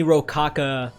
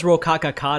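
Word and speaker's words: Rokakaka: Again, it's giving me Rokaka. I know it's Rokaka-ka, that's how you actually said it, so I've always said it wrong.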